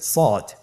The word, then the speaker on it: صاد: শুরুতে আমরা শুরু করছি সদ। সদ হরফটি পুর হরফ, মোটা হরফ, উচ্চারণের ক্ষেত্রে মোটা করে পড়তে হবে এবং উচ্চারণ করার সময় 3 আলিফ টেনে পড়তে হবে।